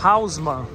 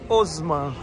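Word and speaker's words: Haussmann: como hausmann aqui é Osman o h não tem som de R E a com u em francês é o então é Boulevard os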